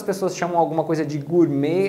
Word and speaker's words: gourmet: balé quando era criança a mesma coisa acontece com gourmet gourmet vendo francês nós pronunciamos como Gourmet com esse e final fechado mas inglês eles vão pronunciar com o som de Ei então é Gourmet o Gourmet Make of